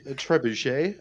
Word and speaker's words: trebuchet: you like yeah a trip a trip a trebuchet that's right uh you know what I'm referring